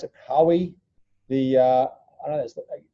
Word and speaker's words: Huawei: There's a whole heap of crazy news around, well, it depends on how you pronounce it, Huawei.